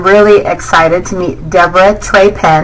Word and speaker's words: Trappen: excited to meet Deborah treen right did I say it right Tren is exactly it awesome is the owner